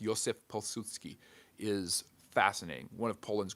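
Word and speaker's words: Józef Piłsudski: It's Joseph Pilsudski for those of you Pilsudski, but it's pronounced Józef Pilsudski.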